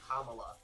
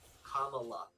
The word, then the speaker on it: Kamala: And she by the way, on like page 1, she's like, it's pronounced Kamala, like the pronunciation. Kamala.